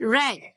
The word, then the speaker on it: read: so now read read the spelling would be the same correct only the pronunciation is different for simple words we say simple word we say it as read past simple we say it as red so it falls under